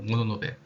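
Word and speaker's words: 物部: 그래서 물부는 아까 말씀드린 대로 일본식 발음으로 모노노베. 이거는 아마 가와우에 식 정도로 읽을 수 있을 것 같아요. 그럼 이게 각각 모노노베 가와우에 식인데 우리나라에서는 그 중에서 모노노베 식을 많이 사용하고 있다.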